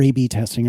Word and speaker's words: A/B testing: And I've not done like the proper A/B testing or whatever. Like, I'll be the first to tell you this is very unscientific. It's pronounced AB testing.